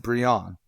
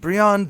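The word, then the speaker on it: Brion: gregor and bree on it is spelled kind of Brian but every time I've seen it said it is said Brianna Markov holds their father's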